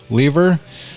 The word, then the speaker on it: Lever: How do you pronounce Lever. it? Lever.